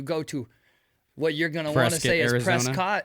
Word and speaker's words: Prescott: to what you're gonna Prescott it is not Prescott you better say it correctly or they'll press your